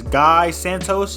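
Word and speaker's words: Gui Santos: His name is Guy Santos, G-U-I Santos.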